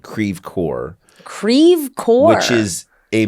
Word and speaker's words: Creve Coeur: of St Louis called Creve Coeur Creve Coeur which is a mispronunciation it's so St Louis to mispronunciate a French term krevker which means broken heart